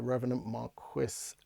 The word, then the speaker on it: The Revenant Marquis: I need to say that's the correct way to say it apparently is the Revenant Marquis this is the album